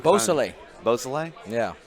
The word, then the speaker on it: Beausoleil: Beausoleil.